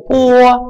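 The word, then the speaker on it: 拨: Далее, если мы набираем телефонный номер, это по, B-O, по, помним, стараемся громко, точнее не громко, звонко не произносить букву B, во всех случаях, кроме сочетания с I. B, четко, B звучит звонко. В остальных папа, да, например, B-A, не говорим баба, говорим папа. Так и здесь, по, не бо.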